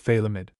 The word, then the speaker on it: Feidlimid: FN number 39, pronounced Feidlimid.